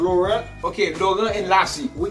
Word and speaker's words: Laurent: Say it like us. Don't say like okay. American. Laurent.